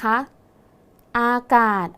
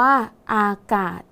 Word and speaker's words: อากาศ: พร้อม กัน นะ คะ อากาศ อ่าน ว่า อากาศ นัก เรียน สังเกต คำ ว่า กาด นะ คะ ตัว สะกด คือ ศ ศาลา แต่ ออก เสียง พยัญชนะ ท้าย เหมือน ด เด็ก ดัง นั้น คำ นี้